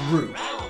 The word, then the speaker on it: Ryu: Do you know his name's actually Ryu? Don't that's, sound right. That's it, because it's a real Japanese name and that's how you pronounce it.